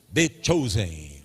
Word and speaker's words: The Chosen: Como é que pronuncia, Fábio? The Chosen.